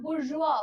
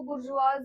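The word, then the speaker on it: bourgeois: आए थे ठीक है इस वर्ड को हम प्रोनाउंस करते हैं बुर्जुआ बहुत सब लोग इसको बुर्ज वाज बोलेंगे बुर्ज वाजी बोलेंगे इट्स बुर्जुआ बुर्जुआ का मतलब क्या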